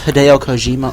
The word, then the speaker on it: Hideo Kojima: Not only is Hideo Kojima aware of this movie, Yes, you pronounced his name right.